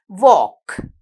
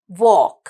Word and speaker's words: walk: walk. walk. How do you say it? walk. Starting with letter W. But when we write the word walk, you have to write this silent letter L.